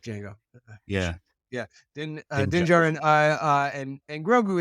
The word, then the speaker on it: Djarin: the secondary second day I think the second D is silent. It's like Django. it's like Django. Yeah. Yeah, Din Dinja. Djarin and Grogu, it's like